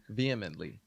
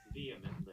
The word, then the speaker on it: vehemently: you say this word that is not how you say John vehemently vehemently okay the attorney said Mr Kelly vehemently vly what H is silent vehemently vehemently okay the attorney